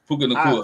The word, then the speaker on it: Puka Nacua: Puka Nacua.